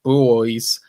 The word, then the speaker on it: Buoys: Additionally, celebrated music photographer Tony Mott will be in attendance, and Sydney-based indie rockers, the Buoys, that's spelled B-U-O-Y-S, so just in case you're wondering about the pronunciation, are set to perform tracks from Frog Stamp in tribute.